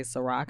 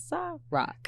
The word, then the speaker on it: Sa-Roc: roll off the tongue they want to say sorak i'm like no it's rock yeah there we go